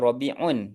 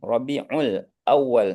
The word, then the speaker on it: Rabiulawal: Rabiulawal. Bukannya Rabiun. Rabiulawal.